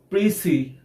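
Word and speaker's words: précis: or an abstract friends it is supposed to be pronounced as pre-see and not besides friends prissy is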